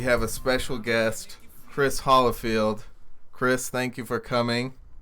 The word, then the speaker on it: Holifield: Ever since I was born, it's always been Hollifield. Okay. Holyfield's with a Y. I'm Holly. Is that what the difference is?